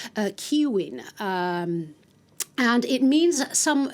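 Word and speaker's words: Caoimhín: character of Home Alone, Kevin is actually originally an Irish name that's pronounced uh Kiwin.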